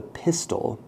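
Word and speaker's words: pistil: is the female part it is called the pistol it is not spelled the same as a pistol um this is made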